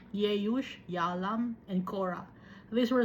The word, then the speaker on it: Jeush: and Basimath Ismael's daughter sister of Neboth Nebayoth kasi yung J later na pronounce no yung letter J dati ang pagkaka-pronounce ng J was letter Y no neoth no add